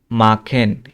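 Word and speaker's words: machen: তারপরে আবার দেখি মাখেন, এই যে সিএইচ, সিএইচ এর আগে কি আছে, এ আছে, তাহলে খ উচ্চারণ হবে, এই জন্য এটা হচ্ছে মাখেন।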